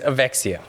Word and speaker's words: Avexia: This pocketeer's name is Avexia, which is a word that rhymes with dyslexia.